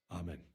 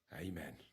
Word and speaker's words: amen: Amen. Amen. You guys should establish the pronunciation of Amen. Amen. Amen. Some actors say it like in Poland which is amen like Henry here, but others say amen.